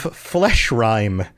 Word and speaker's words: Fleshrime: Bite of flesh rhyme. Flesh rhyme is spelled FLESHRIME, not rhyme like a lyric would rhyme.